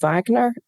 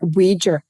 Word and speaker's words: Wager: A woman called Wagner, not Wagner, Wager.